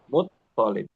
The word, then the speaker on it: مطلب: Muttalib. مطلب. Nah, lamnya nggak ditasydid ya. Ya, Bukan ya, Muttalib.